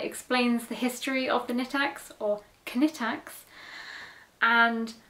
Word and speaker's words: Knittax: I'm going to say Knittax because it's easier for me, but I know that it is actually pronounced Knittax in Germany.